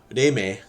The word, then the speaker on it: Reime: So the big one is going to be Reime, how it's pronounced in Japanese anyway.